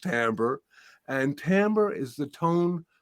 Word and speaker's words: timbre: called Timbre which is a in musical terms is spelled t-i-m-b-r-e but it's pronounced Timbre and Timbre is the tone color of the